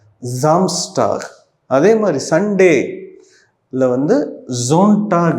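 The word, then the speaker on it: Samstag: Saturday வந்து ஜாம்ஸ்டாக் சாம்ஸ்டாக் இல்ல ஜாம்ஸ்டாக்.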